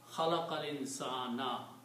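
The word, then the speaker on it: خَلَقَ الْإِنْسَانَ: And that happens is that this last letter on dhamma changes into a fatah. So you pronounce khalaqal insana.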